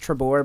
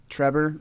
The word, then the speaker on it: Trebore: you met trebore Trevor I meant for it to be pronounced trebore but Trevor it just looks like Trevor it looks like Trevor with a b a b instead of a b that's how you said